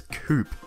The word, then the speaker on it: coupe: With The Sports coupe The accent on the e is taken off In The American version because According to my super reliable source you guys pronounce It as Coop in the whel department